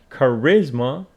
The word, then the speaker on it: charisma: that is eloquence and Charisma Charisma the natural ability to attract people stress on the second syllable Charisma he lacks Charisma he